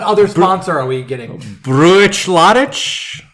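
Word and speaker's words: Bruichladdich: Bruich Lodich. Brew Eclectic.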